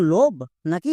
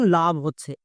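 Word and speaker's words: love: আজকের ক্লাসে আমরা আলোচনা করব এল ওভিই এর উচ্চারণ লোভ নাকি লাভ? কোনটা? কারণ আমরা জানি ভাওয়েল দেখলে রুল চেক করতে হই। এখানে ও ভিসিবি রুলে আছে। তাহলে লোভ হওয়ার কথা। বাট এর উচ্চারণ লাভ হচ্ছে।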